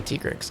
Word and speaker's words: Tigrex: Okay, Tigrex, come on. Can you guys believe this thing's pronounced Tigrex and not Tigrex?